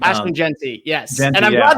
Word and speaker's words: Jeanty: Ashton Jeanty, yes.